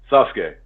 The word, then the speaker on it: Sasuke: SASE or sazuk do what what's the proper pronunciation of it Brian what do you call him Sasuke okay thank you I'm not crazy and uh